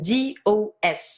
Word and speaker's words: dos: written D-O-S, Le dos. pronounced do.